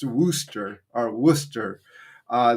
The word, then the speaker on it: Worcester: It's spelled like Warcester, but it's pronounced Worooster or Worcester. Uh, the best way we could find to pronounce it was a pizza place in the city called Wooster Pizza.